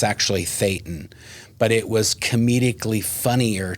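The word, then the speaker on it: thetan: corrected him and said, "Oh no, it's actually Thetton."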